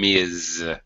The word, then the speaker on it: Ms.: Okay, the first one is a Z sound, Ms.